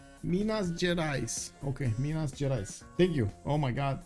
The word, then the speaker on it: Minas Gerais: I'm pronouncing it wrong? Give me a sec. Portuguese detector. Let's see. Minas Gerais. Oh, Gerais. Oh. Minas Gerais. Minas Gerais. Okay, Minas Gerais.